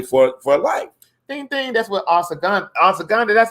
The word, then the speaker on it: ashwagandha: That's what ashwagandha. That's how you pronounce it.